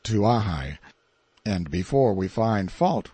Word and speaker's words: Kauai: In due course of time our journey came to an end at Kauai, usually pronounced Tuahai, and before we find